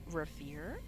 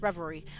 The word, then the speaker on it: Reverie: we are back with Harmony the fall of Rivier which I realized that I had been pronouncing it wrong this entire time um once